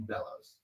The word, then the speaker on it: Bellows: It's not Below, it's Ian Bellows.